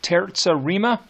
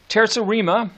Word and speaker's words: terza rima: that we haven't talked about yet it's called terza rima so here we go being dead fleeing ABA